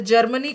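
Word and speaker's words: germane: ये जर्मन है, इसमें ई लगा हुआ है, एक्स्ट्रा ई लगा है, जर्मेन।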